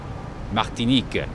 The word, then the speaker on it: Martinique: Martinique, that is the pronunciation.